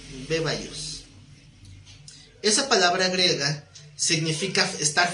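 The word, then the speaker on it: βέβαιος: Como bebé, beba y os, bebaios, porque tiene acento en la E, bebaios.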